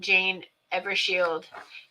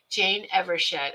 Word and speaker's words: Evershed: a um a newsletter from Jane Evershield and um then I will abs be happy ever evershed. Jane Evershed I do not want to get her name wrong.